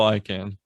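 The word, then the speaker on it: Icahn: was the former ceo of how do you pronounce this i can i can carl i can thank you thank you i can't automotive group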